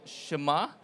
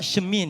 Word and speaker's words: Chemin: I'm the VP of this company called Shema. That's how you pronounce it. It's a French word which means the path. It's Shema, That's Shema, correct. not Shemin, is it?